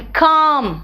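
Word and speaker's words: calm: वो चौक होता है एंड काम इट is naught L इट्स काम है ना एल को साइलेंट कर दो नेक्स्ट आओ के के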